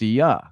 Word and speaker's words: Ea: Enki's Akkadian name was Ea, pronounced Ea.